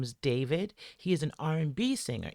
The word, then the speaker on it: D4vd: Okay, his name is David. Um, it's spelled D, the number four, V D, and that's how he spells David.